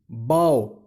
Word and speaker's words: bow: BOW, বৌ মানে ধনুক, BOW, বাও, বাও মানে নত হওয়া।